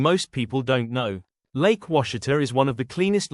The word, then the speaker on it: Ouachita: Most people can't even pronounce it. It's Ouachita.